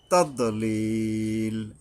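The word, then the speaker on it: تَضْلِيل: তাদলিল, এই দদ উচ্চারণে মাখরাজ মেনে উচ্চারণ করতে হবে। তাদলিল, এই ইয়ার উপরে 3 আলিফ টানতে হবে।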